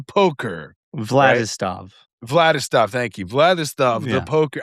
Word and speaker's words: Vladislav: Vladislav the poker. I got his name wrong in two different ways now. Or or yeah, sorry. Actually, I got it wrong, too. It's Vladislav. Vladislav.